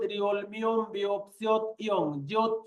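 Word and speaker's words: 리을: আমি আবারও বলতেছি, যেমন গিয়ক, নিয়ন, দিগুত, রিওল, মিয়ম, বিয়প, সিয়ত, ইয়ং, জিয়ত, চিয়ত, খিয়ক, থিয়ত, হিয়ত, ফিয়ক, ফিয়ক, হিয়ত।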